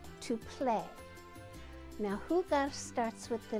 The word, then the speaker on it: jugar: It's a verb, and the word is jugar, to play. Now, jugar starts with the letter J, and J is pronounced like H in Spanish.